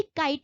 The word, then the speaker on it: cite: इसको भी काइट ही पढ़ेंगे बट स्पेलिंग CITE इसकी रहेगी, यानी के की जगह सी का यूज होगा और ऊपर SH की जगह SC का यूज होगा.